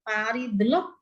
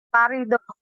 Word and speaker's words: Faridah: Faridah, bacanya Faridah. Parido.